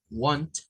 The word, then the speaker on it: want: Entonces, si yo no me quiero enrollar con los sonidos, quédese esto pronunciándolo más como una A, want, want, y este pronúncialo más con el diptongo O, o la vocal larga O, want.